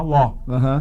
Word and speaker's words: law: É engraçado que na pronúncia, né, muita gente, né, principalmente brasileiro, tem dificuldade de falar law. Porque é como se fosse law de loló, de lógico, L-O com acento, law.